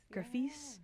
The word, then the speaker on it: Graphis: and you've received many honors and accolades, including Graphis, is that how you pronounce that? Graphis, Yeah.